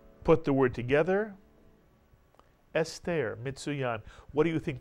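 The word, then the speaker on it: אסתר: First syllable is S, mitsuyan, segol under the aleph. And how about the second syllable? Ter is right. Put the word together. Esther, mitsuyan.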